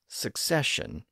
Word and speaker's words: succession: four syllables of course today it's pronounced as succession with three syllables and thanks to poets